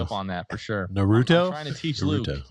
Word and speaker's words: Naruto: Naruto? I'm trying to teach Luke. It's Naruto.